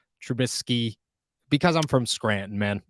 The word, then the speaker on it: Trubisky: here for this one why do I pronounce it trubitsky instead of trubisky because I'm from Scranton